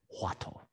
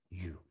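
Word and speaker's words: huatou: That turning point is called Huatto. Huatto. Huattou. Huatto. Right. The Japanese pronunciation, Huatto. Huatto. Korean pronunciation, Korean Song Buddhism or Chan Buddhism in Korean manifestation, go Wadu.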